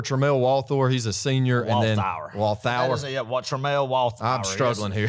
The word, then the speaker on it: Walthour: And then it came to that Walthour, Thour, like a sour gummy worm, sour.